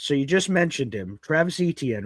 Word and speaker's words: Travis Etienne: I know I know you've been calling me Travis Etienne this entire time, but just you know, it's pronounced Travis Etienne.